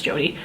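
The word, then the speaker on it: Jode: shimmery steely blue jody i think it's spelled j-o-d-e i would say that's jody i love this look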